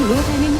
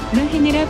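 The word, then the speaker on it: Lohan: 성 로한은 활동 초기엔 스스로도 로헨이라 발음하기도 했으나 로한은 본디 아일랜드계 성도 로원에 가깝게 발음된다. 유럽 배우들이 미국에 진출하면 이런 식으로 현지와 미국에서 발음하는 이름이 다른 경우가 종종 있는데 린지는 아예 미국 태생이고 스스로 로헨이라고 발음했으면 로헨이 맞다.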